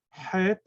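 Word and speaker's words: ח: This letter does not, this Het does not exist in English. It's a strong H.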